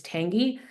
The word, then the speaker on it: Tangy: to see the LinkedIn uh chat my name is spelled ta n g y it's Tangi and last name